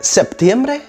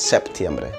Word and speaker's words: Septiembre: vowel for example: "Soy" do you say "Septiembre" or "Setiembre" well...according to the Royal Spanish Academy both words are correct however!! beaware Setiembre, even though is considered correct, it's colloquial, a bit mroe informal the recommended way is Septiembre The last one!!